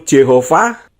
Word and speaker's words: Jehovah: Dengan demikian, tetragramaton menjadi nama latinisasi buatan, yaitu Jehovah atau Jehovah. Saat penggunaan nama tersebut menyebar ke seluruh Eropa abad pertengahan, huruf awal J diucapkan sesuai dengan bahasa vernakular lokal daripada bahasa Latin.